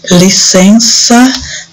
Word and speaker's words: licença: So licença, this has this sound of that C with A, has the sound of S.